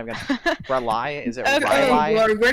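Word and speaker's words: R'lyeh: Rely? Is it Rely? Lord, where do we even begin, honestly? It's pronounced Rilia. Rayla? I can't pronounce. Rilia. Yeah, like that. Rilia.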